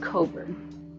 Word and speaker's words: Cockburn: Yeah, it's pronounced cobber, but it is spelled cobburn.